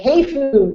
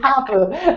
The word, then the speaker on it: ハーフ: I was on a radio show he like hayu tell us about hayu and I'm like what it's Hau but thanks um okay okay well I think